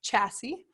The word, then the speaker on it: chassis: chassis so this is pronounced not Jessi's it's pronounced chassis and that's like the body of it you're